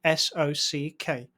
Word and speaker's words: SOC: But there is one standard you need to be aware of: the System and Organization Controls, SOC, pronounced SOCK, but spelled SOC.